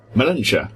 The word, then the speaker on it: Melentia: Melentia.